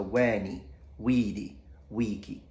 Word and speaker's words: veni vidi vici: are long we have the first vowels of each word are long so wani weedy Wiki now if you want